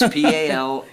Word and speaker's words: Palmietto: It's Palmietto.